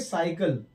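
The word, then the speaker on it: cycle: सी के बाद हमने वाई लिख लिया, तो इसको हम काइकल नहीं पढ़ेंगे, इसको हम पढ़ेंगे साइकिल।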